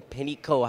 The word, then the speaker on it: Panicko: I am speaking with cell trust Mr Peno how are you today sir I'm doing very